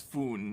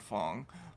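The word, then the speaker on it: Phuong: points out I was I was mispronouncing the name. It's F, not Fong.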